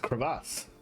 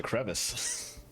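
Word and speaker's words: crevasse: Today I learned it is actually pronounced creass. I didn't know that. I had always pronounced a crevice.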